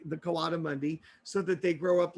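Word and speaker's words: coatimundi: he is a coati Mundi. A coati mundi. I'm gonna spell it for you, so you can look it up next time you're at the library.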